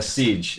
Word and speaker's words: CYGE: Wait, that's pronounced what? A siege.